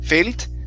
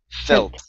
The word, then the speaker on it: felt: the word felt here you had said fail failed okay give me a good short e sound felt so i haven't always